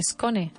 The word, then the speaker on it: scone: Y entonces es muy habitual poner una E delante cuando lo pronunciamos y decir scone o scone. Pero no. Scone. S-C-O-N-E.